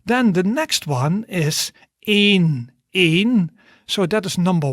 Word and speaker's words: één: Then the next one is één.